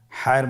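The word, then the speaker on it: ح: পরবর্তী হরফ আমরা যেটা শিখব সেটা হলো হা। হায়ের মধ্যে কোনো নোক্তা আমরা দেখতে পাচ্ছি না। হা হরফটি কীভাবে উচ্চারিত হবে? হা হরফটি উচ্চারিত হবে কণ্ঠনালীর মধ্যখান হতে। গলা চিপে ধরে আপনি উচ্চারণ করুন।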